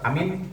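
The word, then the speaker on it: آمين: Tapi kalau amin, nah justru wahatani. Dan dua cara membaca ini yaitu amin dan amin masyhuratani.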